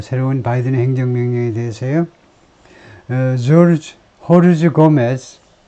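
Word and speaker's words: Jorge: 조르지 호르즈 고메스 이 스페인에서는 이 J를 H라고 발음하니까 호르즈 고메즈가 alone 34-year-old Honduran man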